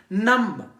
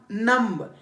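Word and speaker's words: numb: ठंड हो जाना सही सर्दियो के मौसम में नम नम यह नम नहीं है यह नम है फिर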